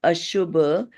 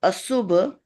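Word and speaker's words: aśubha: And then Ashubha. Okay, so S also has that little tilde or something on the top. So that becomes sh instead of sa. Instead of Asubha, you will say Ashubha Vibhava.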